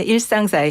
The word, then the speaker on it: 일상사이: 예, 일상사이. 134인데 편하게 발음하시면 일상사이거든요.